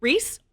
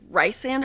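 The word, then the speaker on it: Rhys: Reys, RH YS, is a popular name in America. No. In the UK, yeah. And I think that's why I knew how to pronounce it correctly. If anyone ever says Ryan around me, just know you will face my wrath.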